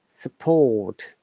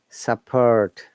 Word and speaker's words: support: And the T is strong, like the word support. You see, no R sound, but T is there. This is British English. But if you want to listen to American one, then it will come like support. Support. The reason is that R must be pronounced in American IPA, and T sometimes is T, about sometimes it is like a flap T. It sounds like D.